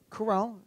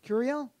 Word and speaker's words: Curiel: I just Judge Gonzalo Curell. Is that how you pronounce his last name? Curiel. That's the name of the judge.